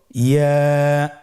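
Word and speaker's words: ياء: আবার বলুন ইয়া। ইয়ার মাখরাজ কোন জায়গা থেকে উচ্চারিত হয়? ইয়া উচ্চারিত হয় জিহ্বার মধ্যখান তার বরাবর উপরে তালুর সঙ্গে লাগিয়ে উচ্চারিত হয়।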